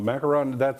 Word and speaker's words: macaron: no, macaron, that's French. Macaron. French, I think, in the language itself doesn't Nope. have an ooh sound.